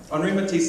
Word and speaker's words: Henri Matisse: I'm going to pronounce his name correctly, yeah? Henri Matisse said creativity takes courage.